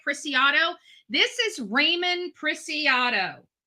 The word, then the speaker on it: Ramon: This is Ramon Preciado. Ramon. They say his name is pronounced Ramon Preciado. Ramon.